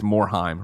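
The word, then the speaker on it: Morhaime: It's Morheim. Rhymes with rhyme. Morheim.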